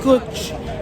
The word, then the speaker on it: cwtch: But then I ended up trying the Kuch beer. Kuch beer. So here the word Kuch spelled as CWTCH, which I found everywhere. Then I searched the meaning of it. So it pronounced as Kuch, and the meaning is cuddle.